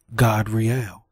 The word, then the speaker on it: Gadriel: And the name of the third is Gadriel. This A is pronounced with an ah sound. Ah, God, and God, Riel.